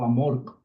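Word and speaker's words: AMORC: Pero en el caso de eh la logia de Amork, antigua y mística orden de la Rosa Cruz, termina en la C. Por eso Amork es la la pronunciación.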